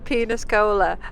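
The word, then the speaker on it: Peníscola: So it is spelled Peniscola, but I think you say it as Peniscola.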